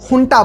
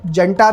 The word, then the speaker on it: junta: और यहाँ एक छोटी सी इंटरेस्टिंग बात, हुंटा शब्द असल में स्पेनिश से आया है, जहाँ इसे हुंटा बोला जाता है क्योंकि स्पेनिश में जे का साउंड ह जैसा होता है। इंग्लिश में दोनों प्रोनाउंसिएशन चलते हैं, जंटा भी और हुंटा भी।